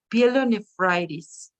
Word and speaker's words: pyelonephritis: Okay, just one thing, pyelonephritis. Pyelonephritis. Okay, teacher. Remember always everything that ends with itis, it's pronounced itis, okay?